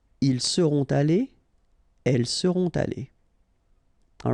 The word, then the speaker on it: allées: You don't pronounce it, but you need to write it. Okay? So let's read them. Il sera allé. Elle sera allée. Ils seront allés. Elles seront allées.